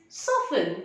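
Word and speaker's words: soften: can you tell me what will be the pronunciation of this word yes correct it is sofin you're a smart learner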